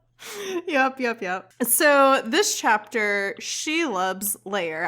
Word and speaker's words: Shelob: chapter she loves layer i'm gonna have to like force myself to say it that way because i i didn't know how to pronounce it and then i just listened to the audiobook to get the pronunciation and i was saying like in my head i was saying it like shelb or schlob or something yeah and it's kind